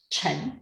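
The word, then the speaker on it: 橙: to wealth but also chen is the same pronunciation as chen means success so a lot of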